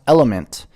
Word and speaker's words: LMNT: you get into it lmnt pronounced element is a tasty electrolyte